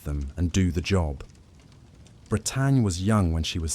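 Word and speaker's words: Bretagne: It's the story of a dog named Britannia, pronounced like Brittany, a golden retriever trained for search and rescue work, partnered with her handler, Denise Corliss, a volunteer firefighter in Texas.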